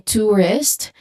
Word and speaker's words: tourist: Yeah, you can also use tour to get you know a feel for this dip thong. So again in tourist you can tell if you are pronouncing the word correctly. If um your lips is more rounded and smaller and then um if it is